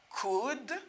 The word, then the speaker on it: could: Exemple ça là, par exemple, m'gagne, could, m'tou rappelé nous ça? So the letter L is not pronounced in this word.